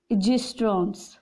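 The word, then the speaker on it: oestrogens: and ovaries produce progesterones and gistrons okay o is silent these are responsible for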